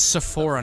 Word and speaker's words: Sephora: That's Sephora, not Sapporo. It doesn't start with a P. The fuck? It's an F. That you say it like an F.